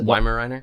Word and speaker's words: Weimaraner: right is that the Weimaraner yeah yeah Billy used the the German pronunciation of it you have the weimaranas yeah no the Dobermans